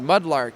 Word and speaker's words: MudLrk: And so I just dropped the A and kept the R, so it's still pronounced the same way phonetically, but looks a little bit more interesting and maybe easier to trademark.